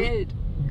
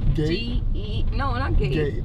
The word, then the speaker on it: Geld: Geld. Good. Geld. How you spell it? Gade?